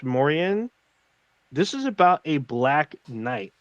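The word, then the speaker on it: Moriaen: spell the name name it's m-o-r-i-a-e-n i believe it's pronounced mauryan this is about a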